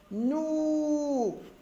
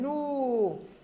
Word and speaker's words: nous: est une lettre muette nous pronom personnel nous s lettre muette un tour un tour